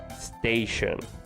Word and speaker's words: station: By the way, please pay attention to the way I'm pronouncing the second word, station. Alright, once again, station. Sometimes it might be difficult for us because we speak Spanish, and we always try to place an E before the S.